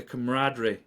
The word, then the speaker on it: camaraderie: I think something that you're gonna love is on show day, like the camaraderie.